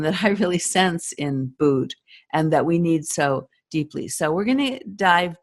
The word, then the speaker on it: Bood: Bud, like wood.